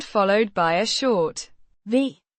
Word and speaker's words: vi: V means we pronounced V. A short clear V sound followed by a short E sound.